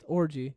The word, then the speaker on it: Orji: pronounced Orgy.